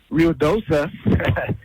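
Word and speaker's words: Ruidoso: for you guys uh ruoso New Mexico prob uh pronounced RI DOA it's on fire they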